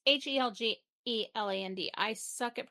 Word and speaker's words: Helgeland: Written and directed by Brian, I don't know how to pronounce this, Helgeland? Helgeland? It's Helgeland. I suck at pronunciations.